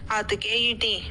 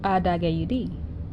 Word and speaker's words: Adegayudi: This week's word is Adegayudi. A-da-gay-u-d. Adegayudi.